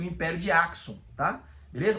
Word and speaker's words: Axum: Ou o império de Achum, como alguns falam, tá? Mas a maioria das pessoas pronunciam Axon porque a própria capital do império de Axon, ela é chamada de Axon, né? Com a S k, né? Eh, a KS, né?